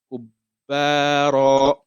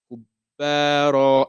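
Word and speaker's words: كُبَّارًا: But now it's having the Shadda, so that's a double roll it's having on it. So the way you pronounce it, Kubbara, Kubbara.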